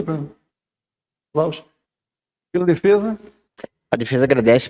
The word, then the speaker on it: Lausch: É assim que pronuncia, Fernanda? Lausch.